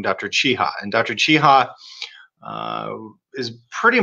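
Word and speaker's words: Czaja: name i've been referring to him as dr zaha but you pronounce his name dr chiha and dr chiha is pretty much the world's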